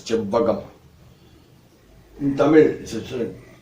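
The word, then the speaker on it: செவ்வகம்: This is called rectangle, which we call in Tamil as chebbagam. Written in English CHEVVAGAM. It is pronounced like this, chebbagam. In Tamil, it is written Che-Iv-Va-Ga-Im chebbagam.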